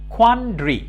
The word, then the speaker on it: quandary: কোয়ান্ড্রি। DARY, এটা ডারি হবে না, এটা উচ্চারণটা হচ্ছে, মনে করবা এ নাই, তাহলে কি হবে? ড্রি। কোয়ান্ড্রি, কোয়ান্ড্রি।